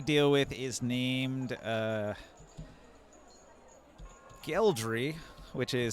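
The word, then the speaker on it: Gheldry: you made a deal with is named uh geldry which is spelled g-h-e-l-d-r-y geldry um real quick professor were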